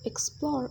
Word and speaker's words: explore: The words present, factual, and seldom receive the primary stress on the first syllable, while the words reserve, explore, and esteem receive the primary stress on the second syllable.